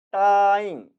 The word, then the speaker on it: 答应: 반면에 答应, 答应, 答 일성으로 발음될 때는 어떠한 자극에 반응을 보인다는 뜻이 되는 겁니다.